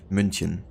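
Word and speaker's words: München: written differently in English for example Munich is actually called munchin or Berlin would be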